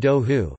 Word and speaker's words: đậu hủ: In Vietnam, duha, pronounced do hu, is a variety of soft tofu made and carried around in an earthenware jar.